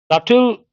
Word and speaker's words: subtle: Subtle, adjective. P is silent.